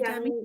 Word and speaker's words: Udemy: Or Udemy? Is Udemy? Udemy, yes, that's a good one.